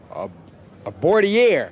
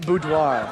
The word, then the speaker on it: boudoir: Snap, pronounce this word. A bordier. What is that? Probably some ice cream or something. Boudoir.